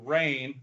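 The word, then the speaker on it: Rayne: um I grew up in a town called rain Louisiana and that's spelled r a y NE and it was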